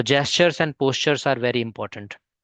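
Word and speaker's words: gesture: अह मैं गेस्चर बोला था वह जेस्चर होता है प्रोनाउंसिएशन उसका जेस्चर जी ई एस टी यू आर ई है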